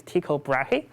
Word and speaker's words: Tycho Brahe: So it starts in the 16th centuries, where I believe the leftmost astronomer, I'll try to pronounce his name correctly. I believe it's Tycho Brahe, and so he was one of the leading